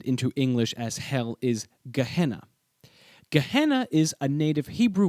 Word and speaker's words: Gehenna: The way I'm pronouncing this word is actually an anglicization that draws on the Greek pronunciation. The original Hebrew phrase was pronounced something like Ge ben Hinnom.